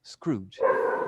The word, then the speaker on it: screwed: Remember, never pronounce this E, screwed.